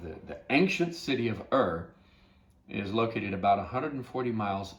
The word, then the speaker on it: Ur: began to develop there called ur or i think is the proper pronunciation of it so er whenever you look at